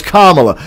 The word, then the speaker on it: Kamala: kamala harris everybody's scared no it's kamala you got to say it like the punctuation mark now you got me